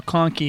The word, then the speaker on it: Conkey: Not going to lie, though, Conkey is a pretty cool last name. I'm looking at the roster notes. The way they asked me to pronounce it, they said, like donkey.